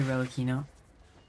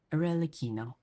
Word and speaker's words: Aino: as the moon sorry Reino oh yeah I also learned how to how her name is actually pronounced aino uh but sorry Reino